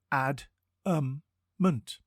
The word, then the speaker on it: adamant: adamant it is pronounced adment and spelled a d a m a NT think Adam like the name and then ant before we get into